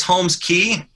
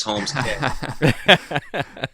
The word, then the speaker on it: Holmes Cay: It's Holmes Cay. But part of that name was knowing that people would mispronounce it as Holmes Cay.